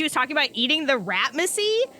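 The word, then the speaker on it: Ratmasey: So, you read this paper about the curse of Basil Ratmacy. And I need to specify, it is spelled R-A-T-M-A-S-E-Y. Macy. Not Mussy.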